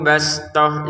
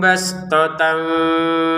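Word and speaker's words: بسطة: Wazadahu bastoh, za 2 harokat. Bastohnya bastotan kita baca bastoh karena kita berhenti. Jadi huruf ta-nya terbacanya ha. Wazadahu bastotan fil ilmi wal jism.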